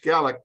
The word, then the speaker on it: Gaelic: It's not Gaelic, that's what the Irish speak, but it's Scottish Gaelic.